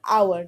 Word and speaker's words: hour: here also like honest we pronounce the word our not power so our leader pronouncing